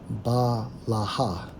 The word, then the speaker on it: Bilhah: Strong's H 1090, pronounced as Balaha.